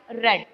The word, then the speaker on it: read: इसका बस sound change होता है, रेड, बट the spelling is same. READ, रीड ही को हम लोग सेकेंड फॉर्म में रेड पढ़ते हैं. दैट इज इसका मतलब ये नहीं कि आप लोग RED रेड लिखोगे, बिल्कुल नहीं. स्पेलिंग यही रहती है, बस उसका जो